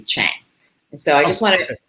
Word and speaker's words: Tschang: a chinese name and the ts is silent so it's a little tricky it can be shang but it's actually chang so i just want